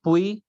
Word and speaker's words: puis: Then pray, pray means near, and pui means then.